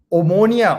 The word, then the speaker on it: Omonia: Manchester United tree oh keep on getting the name wrong Omonia Omonia it's bloody ammonia too hey wait wait wait